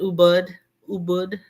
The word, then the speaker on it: Ubud: I've enjoyed watching you on those Bali, those, you pronounce it Ubud streets.